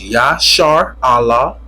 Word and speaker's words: Israel: If you're an Israelite, which the word Israel means, the word Israel broke it down, pronounced YASHARAHLA.